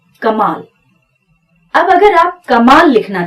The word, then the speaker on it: कमाल: अब इसको कोई चाह कर भी कमल नहीं पढ़ सकता, अब ये है कमाल, और यही एक उच्चारण इसका होगा।